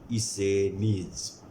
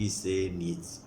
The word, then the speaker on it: Essenes: उस ग्रुप का नाम है इसेनीज। स्पेलिंग और प्रोनाउंसिएशन बिल्कुल अलग है, ESSENES, इसेनीज।